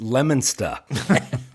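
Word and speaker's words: Leominster: door so if you're a local it's technically pronounced lemona well yeah of course that's located right next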